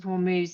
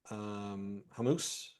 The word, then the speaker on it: Hormuz: Because of the Strait of Hormuz, is that how you pronounce it? Hormuz, yeah.